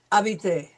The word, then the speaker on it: habiter: It starts with an H, but the H is silent because we have learned that H is always silent.